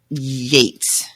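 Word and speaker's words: Yeats: your vocabulary that way and Yates but this is a surname so it's a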